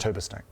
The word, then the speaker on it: Hurberstang: why that's pronounced tuber snake.